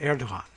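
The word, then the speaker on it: Erdoğan: And I want to get a little more H in it. Erdogan. We'll throw a little bit of very breathy H in that.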